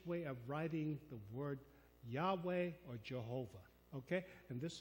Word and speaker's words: Yahweh: me as Jehovah or Yahweh. And one is English transliteration. The other one is the more probable Hebrew pronunciation.